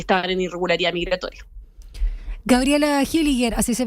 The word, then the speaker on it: Hilliger: ingresado y que estaban en irregularidad migratoria Gabriela hilliger así se pronuncia tu apellido no O es más complejo